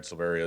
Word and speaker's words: Silveria: state Alcoholic Beverage Control my name is silveria it's s-i-l-v-e-r-i-a I'm the ABC administrator for Jefferson